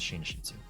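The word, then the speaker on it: 寝室: Muro um so yeah if I were to read this in the pronunciation this would be neru Moodle but that's not the preferred reading the preferred reading is shinshitsu foreign oh that's embarrassing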